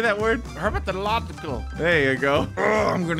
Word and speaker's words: herpetological: Herpetological.